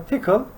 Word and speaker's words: Tcl: this time i will be teaching you uh tickle it's pronunciated as ethical tcl or other saying is